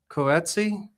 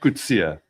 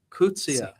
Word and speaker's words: Coetzee: I would say Coetzee. It's a common way of Is it? mispronunciation. Okay, how do you say it? Coetzee. Coetzee.